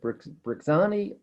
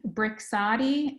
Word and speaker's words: Brixadi: Do you happen to know whether the cost of Brixani, how do you pronounce that, Michele? So it's Brixadi and then Buvidal.